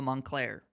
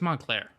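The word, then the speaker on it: Moncler: o n t but it's actually m o n c l e r it's literally like sound it out with your hands and clap while you do it to count the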